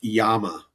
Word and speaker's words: Llama: If we hop on over here to DeFi Llama one more time, and then we go back to the homepage, and let's just take a look it's at pronounced Yama. DeFi Llama. It's a double L in Spanish.